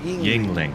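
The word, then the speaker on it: Yuengling: It's pronounced Yingling. Yingling.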